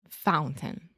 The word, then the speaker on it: fountain: am making the sounds yeah that is actually what I call a stop T so most of the time I would not say fountain that sounds very like